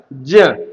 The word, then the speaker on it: ज्ञा: ज्ञान हम लोग बोलते हैं लेकिन शुद्ध उच्चारण नहीं है। इस ग को, इस जिसको हम ज्ञा बोलते हैं, इसको ज्या बोला जाता है। क्या बोला जाता है? ज्या।